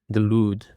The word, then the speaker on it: delude: And now for the seventh word we have delude. Delude. The stress is on the second syllable.